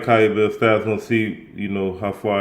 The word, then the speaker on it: Kabayel: Kabayel.